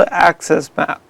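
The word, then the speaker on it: AXS Map: Yeah, so it's called Access Map. So that's spelled AXSMAP.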